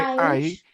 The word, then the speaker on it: I: Si lo lees, primero está I, que se pronuncia solamente I. Aish, No, no, no, sí, ajá, sí, porque disculpa, es que estás haciendo un sonido al final, como que no, es I, Aish, I, I traveled to Miami last year.